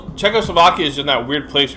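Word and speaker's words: Czechoslovakia: it wrong but then I thought I looked it up at one point I thought oh I'm actually saying it right anyways it's just checko Slovakia is in that weird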